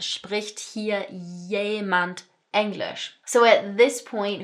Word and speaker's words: jemand: So notice pronunciation wise that this 'j' here is making a 'y' sound. "Spricht hier jemand Englisch?"